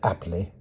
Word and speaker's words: Appleby: You will go to this village, Appleby, pronounced aptly.